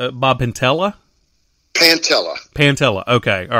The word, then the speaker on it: Pantella: name right Bob pantella pantella pantella okay all right so when I it's like P it's like panta but instead of an R it's two L's oh awesome oh that's